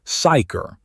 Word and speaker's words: psyker: The figure at the center of this is a psyker pronounced psyker. The P is silent.